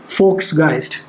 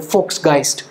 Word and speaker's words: Volksgeist: सो he propounded a theory of फोक्सगाइस्ट. So this is हाउ is pronounce in German. I looked it up in the internet. अब क्या पता मैं गलत हूँ. तो वो हो जैसे Volkswagen, तो Volksgeist.